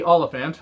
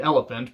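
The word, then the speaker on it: Olyphant: words uh mickey timothy oliphant uh who i used to call timothy elephant because i just can't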